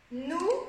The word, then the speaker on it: nous: connaître, de, le e, nous, ah, attention on a le ou ici, nous, le son ou, nouvelle, ici le